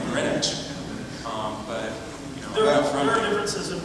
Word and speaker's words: Greenwich: not a native, but now I hear people say Greenwich or Greenwich, and it drives me crazy. I'm like, Greenwich.